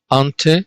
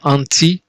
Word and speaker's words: ante: ante which means before ante see it is not anti that is different with an eye maybe we will come